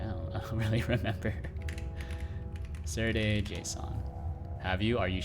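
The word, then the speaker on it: Serde: Serday JSON.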